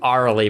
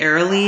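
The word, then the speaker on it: Aeralie: Arlie Brighton? Arlie Brighton, yes. Yep, Thank you. or maybe Airly. It might be Airly, because is it like A-E? Yeah, it has an A-E-R-A-L-I-E.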